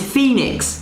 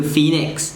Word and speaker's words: Phoenix: P and H, in English, we pronounce it as F. But then Khmer, we PH, it's pronounced as P.